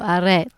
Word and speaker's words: arrête: Well, Because you know how the French roll their R's differently? Yeah. It's like very throaty. Right. So, arrête.